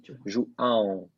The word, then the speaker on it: João: Yeah, but the A is nasal. So João.